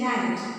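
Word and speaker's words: knight: Then the third pair is night, N-I-G-H-T, night, and K-N-I-G-H-T, night. K is silent.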